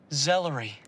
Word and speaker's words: Zellery: Zellery. It's not that unusual. I think it's tantalizing and very poetic. It rhymes with celery.